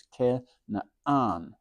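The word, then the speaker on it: כנען: So it's ke na'an. That's because that ain gives that hard start to the A.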